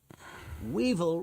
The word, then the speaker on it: weevil: Weevil rhymes with evil, and that's what many people think it is.